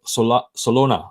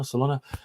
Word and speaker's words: Solana: your target wrestler so solona i keep pronouncing it wrong solano solana okay uh price target for